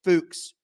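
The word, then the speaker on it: Fuchs: assistant offensive line coach it's spelled Fu C HS I watched a million interviews on YouTube try to find somebody saying his name he said his own name it's fuks I don't give a fuks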